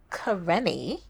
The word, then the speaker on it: Kerrene: And it gives me such great pleasure to welcome Kerrene.